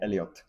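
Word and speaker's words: Elliott: nom et en fait le nom il achète il achève avec deux il finit avec deux T. Donc on prononce le T. Donc c'est Elliot et on est avec Elliot alors qu'il arrive à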